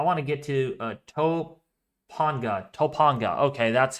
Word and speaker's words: Topanga: Jack um I want to get to Topanga Topanga okay that's how you say it Topanga station